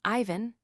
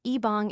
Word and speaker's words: Ivan: "That's how he says his name, Ivan." Brian said. "Cuban pronunciation, Ibong is Cuban."